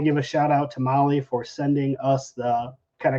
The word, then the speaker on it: Mahle: And for our podcast listeners, Molly is spelled Mahle. And I want to give a shout out to Molly for sending us the kind of care package.